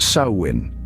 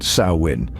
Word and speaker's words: Samhain: of this term saman contrary to what your instinct might tell you is pronounced sawin Yes you heard that right sawin the word hails from